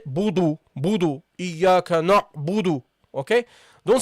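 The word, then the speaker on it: نَعْبُدُ: Okay, so you say here na budu. Iyyaka na'budu, Iyyaka na'budu. Okay? This is how you should pronounce it.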